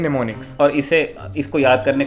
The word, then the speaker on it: mnemonics: है, क्या है कि निमोनिक्स में एम से शुरू होता है, तो एम इसमें साइलेंट है, एम एन ई एम ओ एन आई सी एस, ये इसकी स्पेलिंग है, इसको बोलते हैं निमोनिक्स।